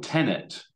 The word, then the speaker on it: Tenet: it was wonderful but the film tenet te NE T like tenant what do you believe